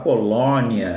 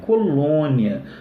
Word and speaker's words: colônia: Então, você pega a palavra colônia, esse lom, né? Você não vai falar colônia, né? Aberto, né? Colônia, não, é colônia, fechado mesmo, né?